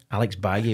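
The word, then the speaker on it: Alex Valle: His name is Alex Baye with full Spanish pronunciation.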